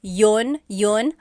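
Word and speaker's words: iyon: You might hear me saying yun yun as if there's no I and that's commonly how it's pronounced. You might hear people say, but usually the letter I sound is dropped.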